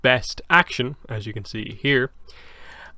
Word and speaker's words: BST AXN: called BST space AXN, pronounced Best Action, as you can see here.